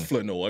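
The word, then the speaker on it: Flournoy: Make sure you say his name right. It's Flanoy.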